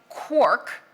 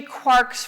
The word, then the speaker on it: quark: So in Finnegan's wake, it's clearly rhymes with Mark, but as Galman says, he needed it to rhyme with quark.